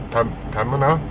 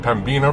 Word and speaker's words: Pembina: Actually, it's Pembina is how they pronounce it. I said Pembina for years, and it's a bad thing, I guess.